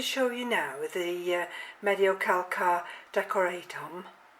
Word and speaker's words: Mediocalcar: you now is the Mediocalcar decoratum. Probably not quite that, but the Mediocalcar's the correct pronunciation.